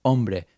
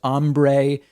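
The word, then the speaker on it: hombre: Brei, as Donald Trump likes to say, of course, that the word is pronounced Umbra. But as Trump says on Brei, you call nine one one.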